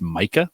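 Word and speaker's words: Maika: ones I did my co-host her name is Micah M AI ka it's hard to pronounce and spell and they they translate it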